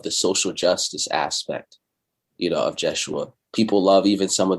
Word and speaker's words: Yeshua: Jeshua, yeah. Jeshua. So the J didn't exist.